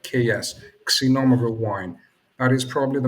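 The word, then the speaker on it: Xinomavro: it's not pronounced z number it's but not pronounced c like ks synonymous wine that is probably the most uh prominent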